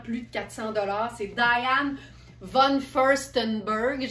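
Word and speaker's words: Diane von Furstenberg: c'est Dian vanon firststenberg je sais qu'il y en a des Smar qui ont beaucoup de mot puis qui font comme si' était pas capable de prononcer le nom de famille ça donne souvent diane Von je sais pas quoi mais c'est Diane Von firststenberg la designer à qui on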